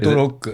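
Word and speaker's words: ヘッドロック: How do you say it? Hedoroku. Is it Hedoroku?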